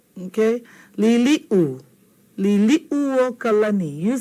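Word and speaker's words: Liliʻuokalani: Everyone says liliokalani, liliokalani. See this u, it gets left out. Okay? Liliu. Liliu kalani. You say that. Liliu kalani.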